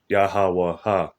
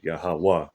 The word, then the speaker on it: YAHAWAH: it's like a placeholder you don't really say yahawah ha you say yahawah like it it uh that last ah drops off so it means he